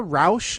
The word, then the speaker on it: Rauch: And Melissa Rauch, I think is how you say her name.